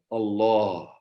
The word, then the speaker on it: Allah: And look how it comes out, the word Allah. Yeah. And he wrote it for them. And as he pronounced, he said, like the ha, it comes from in the heart.